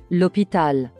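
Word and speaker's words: l'hôpital: factory bluesine the hospital lopital the hotel as you can notice the same rule is applicable to words starting with h but in French we do not pronounce the letter H for example opital Hotel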